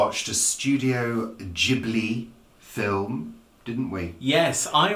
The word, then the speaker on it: Ghibli: I do like Studio Ghibli. It's a bit like giblets, though, when you say it like that.